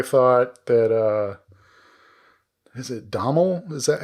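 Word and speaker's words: Domhnall: man and he says it's like tonal but with a d so it's donald trump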